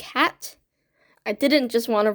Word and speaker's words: had: into Czech which is spelled like had but pronounced more like hat I didn't just want